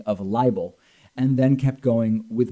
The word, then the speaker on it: libel: he should sue for liable. Now, why am I pronouncing it liable? Because that's how Trump spelled it, L-I-A-B-L-E, I guess meaning, of course, L-I-B-E-L, libel, a published false statement damaging to a person's reputation.